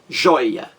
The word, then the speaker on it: joia: o acerto entendeu e a palavra jóia jóia do sílabas a mais forte aí é a penúltima sílaba joy joy a mais forte é a única primeira sílaba que a penúltima joia então você vê eu encontro